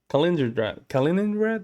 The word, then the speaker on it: Kaliningrad: Kaliningrad here in itself is Kaliningrad.